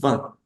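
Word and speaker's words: vingt: es el número 20 esa t no suena esa tampoco va va el número 21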